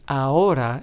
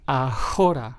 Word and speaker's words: ahora: the letter H, but we still make the H silent. It is pronounced as ahora and not ahora, right? So remember, the letter H is always silent in Spanish when pronouncing it in words.